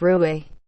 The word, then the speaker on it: 若邪: Pinyin, Ruoxie, pronounced as Ruoxi, but the author has made a note that we should refer to it as Rui.